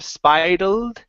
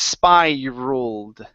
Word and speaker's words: spiraled: the other thing is watch the r sound here in the middle instead of spal it's spiraled so this is an o sound with the a l spiraled has spiraled out of